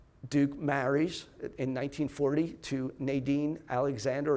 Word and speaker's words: Nadine: In this time, Duke marries in 1940 to Nadine Alexander, or Nadine Alexander as she would pronounce it, 1940.